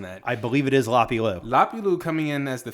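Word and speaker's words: Lapilus: I like the Lapilou. I think that's how you say it. I would think, right? I believe, is he French? That's what my notes say. Yeah. Right. I think he is French, so you drop the S.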